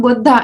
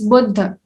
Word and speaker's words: Buddha: It's not Buddha, it's Buddha.